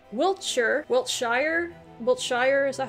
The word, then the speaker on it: Wiltshire: All right, Wiltshire, Wiltshire, is that how you say it?